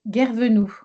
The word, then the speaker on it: Guervenou: On est bien d'accord que votre nom de famille, c'est Guervenoux.